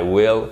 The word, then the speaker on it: will: Will, ça se prononce avec un i court, ok, qui est très proche du e accent aigu, même si c'est pas exactement la même chose, le accent aigu français, I will, et pas I will.